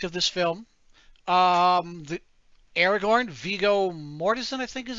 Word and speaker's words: Viggo Mortensen: The Aragorn, Viggo Mortensen, I think is how you pronounce his name, Yep, Viggo Mortensen.